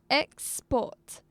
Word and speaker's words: export: So it's a noun. So it was in the first syllable. So over here we have export. So we put stress, we emphasized on the first syllable, not on the second.